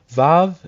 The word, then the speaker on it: Vav: joining chakma to CH numerical value of six VAV is its pronunciation and means a nail it is used